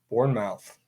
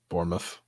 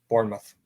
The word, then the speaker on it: Bournemouth: is early EPO play Bor mouth there's no way that's how you pronounce it Bournemouth Bournemouth okay on the ml is